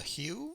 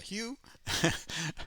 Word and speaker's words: The HU: Who or the Hue Wolf Totem official video. I read that they use traditional instruments as well, so that should be very interesting. The Who Band. I've heard it pronounced Who as well.